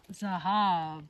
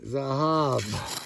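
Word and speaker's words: זהב: Zahab. Spell it. Zion. Uhhuh. Hey. Hey. Bet. Exactly. Zahab.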